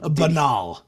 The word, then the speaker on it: banal: But it's a very banal, boring presentation. Like banal. Banal. Oh, I didn't know Yes. that's how you pronounce that.